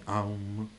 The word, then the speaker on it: Om: suono Insomma di questa questo OM qua sarebbe a u ed m Aum ha un significato specifico